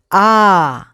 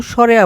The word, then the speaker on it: আ: অ আরেকবার পড়ো অ আ সঠিক উচ্চারণ হবে আ কেউ স্বরে আ পড়বা না আমার সাথে আবার পড়ো